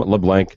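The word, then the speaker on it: LeBlanc: as well and that's leblan with a c not a k yeah no absolutely no K I'm just making sure that with the first time I think I was mispronouncing your name too for the longest time leave it up to interpretation exactly uh it's French there's an L there's a l in front of it so um my name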